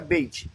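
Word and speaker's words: בית: você pode falar que beit é casa como que se fala pronúncia bait por causa dos sinais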